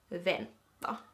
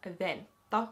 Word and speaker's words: vänta: So, I did a bit of digging and it comes from the Swedish word Venta. Venta. Now I know you Swedes are probably like, ooh, what a Finnish pronunciation, but that's where the word Venata comes from.